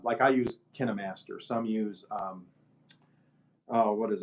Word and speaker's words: KineMaster: about it kept saying KineMaster. So I'm assuming that is the correct pronunciation. Hmm. It's Kine Master, one word. So KINE.